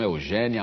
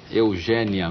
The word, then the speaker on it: Eugénia: Eugênia Melo e Castro, você deve ter percebido que eu fiz um esforço aqui para dizer Eugênia. E não Eugênia. E não, né? Eugênia. O seu nome se escreve com acento agudo.